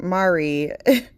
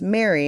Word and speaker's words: Mary: But she kept saying like, "Mari." And then it was like, "Mari." And like I'm like, "Hey, can you like say my name right? Like it's Mary."